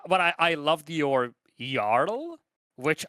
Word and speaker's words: jarl: I I loved your yarl which I would have thought it's Jarl at least in the English pronunciation silent J is same with okay it's y it's yl from what I hear